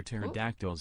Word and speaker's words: pterodactyls: Today, we are never hear pterodactyls go to the bathroom because the P is silent.